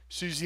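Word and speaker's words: Siouxsie: like nugget of a song that sounded like Susie and the Banshees so I wanted to uh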